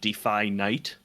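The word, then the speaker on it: Defynite: it's all caps and it's spelled d-e-f-y-n-i-t-e but when it's spelled out not in all caps like the stylized font it's capital D and then capital N so it's like defy night films so it's kind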